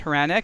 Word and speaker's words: Hranek: Khurana hey hey Ariel perfect pronouncing perfect pronunciation of my last name thank